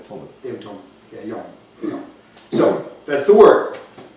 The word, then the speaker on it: Yom: The word for day in Hebrew is Yom. Yom. Yom. Like Yom Kippur, Yeah.